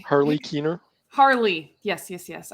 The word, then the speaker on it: Harley: his name Harley Keener Harley yes yes yes I should know that rhymes with my name Marley so um what about